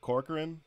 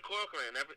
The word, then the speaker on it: Corcoran: right off the bat embarrassing but am i pronouncing this right corcoran that's right all right yeah thank you man i'm glad i'm glad you i'm glad you said corcoran everybody else uh messes it up man so